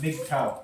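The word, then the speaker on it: MGTOW: Uh Mig to ha it's it's pronounced Mig tow Mig their own way men going their own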